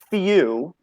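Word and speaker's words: feu: Well, then let's do Lynette, and we'll say it's pronounced few, but it's spelled F as in Frank, E-U.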